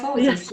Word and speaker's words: kyphosis: Do you know what brace would help a person with I don't know how to pronounce this, kyphosis Channel? and scoliosis? The Yes, kyphosis, yes.